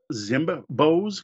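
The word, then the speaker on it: Zimbbos!: And next I have, I think it's pronounced Zimbos, because there's two B's, Z-I-M-B-B-O-S with an exclamation mark. So it's Zimbos or Zimbos.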